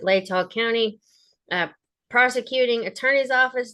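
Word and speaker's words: Latah: the state of Idaho by and through the Law County. That's how I've heard them pronounce it. Lay tall county uh prosecuting attorney's office.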